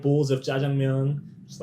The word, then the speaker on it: jjajangmyeon: Jjajangmyeon. Jjajangmyeon. Jjajangmyeon. Am I saying it right or kind of off? I mean, I'm it's not definitely bad. Jjajangmyeon is the correct way of saying it.